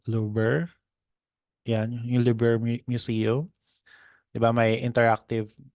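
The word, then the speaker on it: Louvre: interactive Museum europea Lisa I think it's pronounced as Luber yeah Luber Museum my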